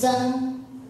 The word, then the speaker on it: Zeng: So it starts with zi, zi, zi sound, zi sound. So this is zi, zi, zi. I think when you pronounce zi, your teeth together, zi, right? And the sound just like come out from your mouth, zi, zi.